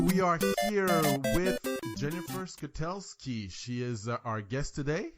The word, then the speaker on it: Skutelski: So we are here with Jennifer Skutelsky.